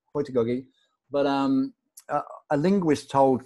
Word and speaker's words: heutagogy: uh well i mean i was raised in the back streets of nottingham in england so in the slums so i i say hoytigagi but um a linguist